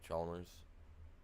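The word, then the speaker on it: Chalmers: So, here's here's a chmer for you. That's how you say it. Charmers.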